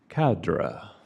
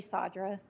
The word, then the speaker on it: Sadra: thanks thank you William cadra welcome I'm sadra it's hard to pronounce sorry SRA no it's okay everybody gets it wrong uh 2009 Town Creek